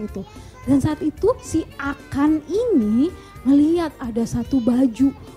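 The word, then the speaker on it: Akhan: Bukan Akan tapi A K H A N. Dibacanya Akan.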